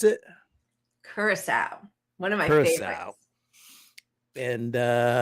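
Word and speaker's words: Curaçao: How do you pronounce it? Curacao.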